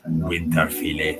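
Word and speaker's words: Winterfylleth: Fait que si on le dit prononcé adéquatement, ça doit être Winter Fillet.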